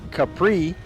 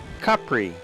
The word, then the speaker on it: Capri: the aisle of CPR by the way the pronunciation of the island does vary a little bit Americans tend to call it Capri Italians call it Capri which is the original and more correct way